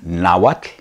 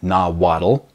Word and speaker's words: Nahuatl: look another word is now what not Nahuatl another one I get